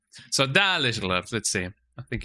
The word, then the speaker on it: Dalish: Oh, Dalish, that's how you pronounce it, Dalish.